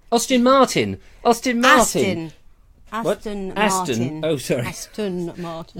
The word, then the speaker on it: Aston Martin: Not an Austin. No, it's a British car, though, isn't it? You've got to say it right. Oh, Aston. I thought it was an Austin. It's not Austin.